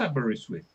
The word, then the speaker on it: Aberystwyth: and it was published by the University of Aberystwyth. Yeah. And I know how to pronounce Aberystwyth because I'm British.